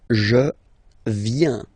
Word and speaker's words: viens: First form, je viens, final S not pronounced, je viens.